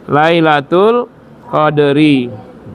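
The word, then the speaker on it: لَيْلَةِ الْقَدْرِ: Lailatul Qadri. Bukan qadru, Lailatul Qadri khairum min alfi syahr.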